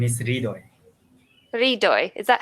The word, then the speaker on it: Hridoy: My name is Hridoy. Hridoy. Is that how you Yeah.